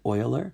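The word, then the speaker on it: Euler: comes to this number this is how you spell his last name but you um you pronounce it Oiler and so for that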